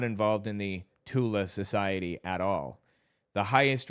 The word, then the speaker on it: Thule: Somebody says Thule Society. It's actually pronounced Tula, the Tula Society, because Germans can't pronounce the TH.